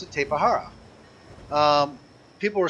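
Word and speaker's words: Tapejara: In Spanish, if you pronounce it like Spanish, J's are H's, right? And you would pronounce it Tapahara.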